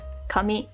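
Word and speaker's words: 神: that one next and this becomes God Kami Shin or Jin whoops beep beep no blips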